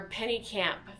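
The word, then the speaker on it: Pennekamp: They also have beach access at the John Pennington State Park, but or penny camp, that's how you say it at that state park.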